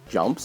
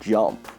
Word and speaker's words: Yoomp: coming too and there another game called jump and you itself supposed to be how a Polish person would pronounce jump and jump itself from